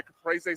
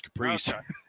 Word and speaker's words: caprese: I thought it was caprese. Okay. No, my wife put me on caprese salads.